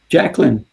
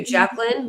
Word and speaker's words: Jaclyn: Thank you, Jacqueline.